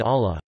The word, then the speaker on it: Allah: the second ll in Allah when the word Allah is preceded by the vowel a fast or the vowel you damped then the lam is pronounced in a distinct heavy manner would tack him this